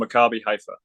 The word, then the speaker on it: Maccabi Haifa: I still can't pronounce the name. It's called Maccabi Haifa. I got you. Maccabi Haifa.